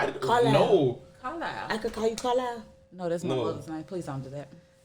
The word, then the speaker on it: Carlisle: But I like Carlisle cause I'm- the way it's spelled, it don't sound. How you Like, think it's spelled? It can be spelled like two when you different say ways. it, you say Carlisle. It sound like ILILE, but when you spell it, it's an S in there, right?